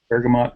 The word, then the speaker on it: bergamot: black tea the Bergamo Bergamot Bergamo and that actually can be pronounced either way the the the orange